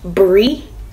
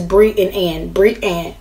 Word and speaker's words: Brianne: My middle name is Brianne. B-R-I-A-N-N. Somebody used to say Brian, but I was like, oh, pronounce it, not having ass. But it says Brianne.